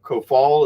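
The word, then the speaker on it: Coufal: that uh vladimir ko ko fal ko fall is how you pronounce it sue follow the defender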